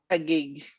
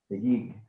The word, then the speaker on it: Taguig: the slums of, I'm sorry, could you please pronounce that for me, since I'm going to murder it? Taguig. Taguig.